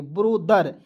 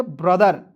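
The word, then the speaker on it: brother: ब्रोदर टी एच का उच्चारण द आर का उच्चारण र के रूप में। ठीक है? बी आर को लिखेंगे ब्र। तो पढ़ेंगे ब्रदर।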